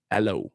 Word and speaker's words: Alo: My last name. Alo. Aloe Vera. Aloe.